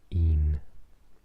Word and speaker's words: un: This looks like Spanish un, but I'm afraid to say the letter U isn't pronounced that way in Welsh. It's pronounced E. So this word is un, dau, tri, pedwar, pump, chwech, saith, wyth, naw, deg.